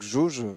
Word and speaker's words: Gauge: s'appelle ça s'écrit gauge G a u g E ouais c'est ça donc un jeuulain merci Falcon pilote paré de ok donc donc gauge donc jauge comme le prononce son créateur dis sur Steam c'est